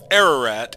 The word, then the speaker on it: Ararat: it is Mount uh Ararat is the way most English speakers will call it uh it's a mountain in Turkey but according to Middle Eastern pronunciation I think it should be pronounced Ararat and we have the